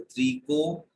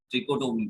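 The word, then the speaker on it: trichotomy: ट्राइकोटोमी जो है ये सिर्फ क्या, इसको ऐसे लिख सकते हो, वैसे ही इसको ऐसे लिखते हैं त्रिकोटोमी, ट्रिकोटोमी बोलते हैं इसको, ठीक है, ट्रिकोटोमी हिंदी में।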